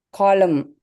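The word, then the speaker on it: column: காலம். காலம். என் சைலண்ட். என்.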